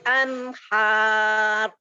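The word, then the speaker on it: أنهار: Ya, anhar. Lahum jannatun tajri min tahtihal anhar. Ro-nya ditebalkan karena ro sukun karena wakof. Sebelumnya huruf yang berharokat fathah, maka ro dibaca mufhim Tebal. atau dibaca tebal.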